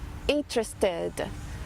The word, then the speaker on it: interested: E como você acrescentou o ED depois do T, aí, então a pronúncia é id, interested.